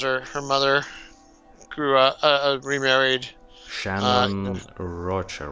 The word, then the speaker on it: Rocha: mother grew remarried Shannon Rocha right so her difficulty because we have mentioned her later on in this show so this is her mother of Shannon Rocha it's pronounced Rafa so yeah she you